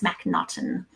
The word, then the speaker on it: MacNaughton: When I was a school teacher, I used to say, you pronounce it like there's a knot in my shoelace, MacNaughton.